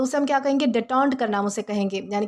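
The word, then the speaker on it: détente: दोस्तों इसका जो प्रोनाउंसिएशन है वो डिटॉन्ट है, ओके।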